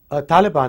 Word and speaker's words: Taliban: And what's the right way to pronounce it? Taliban is the right way to pronounce it.